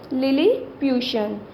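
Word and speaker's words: Lilliputian: लिलीप्यूशन, हमने इसे कैसे प्रोनाउंस करना है? लिलीप्यूशन।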